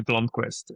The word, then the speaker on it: Blomqvist: That's a great question because honestly, I don't even pronounce it correctly myself. So obviously, that's not a good start. I just say Blomqvist. In Sweden, they're a bit more flair to it.